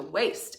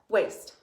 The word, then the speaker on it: waste: Waste. How many syllables do we hear? 1. W-A-S-T. Silent final E. W-A-S-T. Silent final E. Waste.